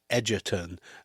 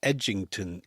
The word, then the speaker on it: Edgington: And uh Seekum apparently repeatedly called him Edgerton and Milligan replied, "It's Edgington in Yingang."